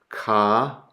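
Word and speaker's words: Κάϊν: So you don't pronounce the alpha iota as a diphthong. You pronounce the two letters separately. So ka, Cain, okay?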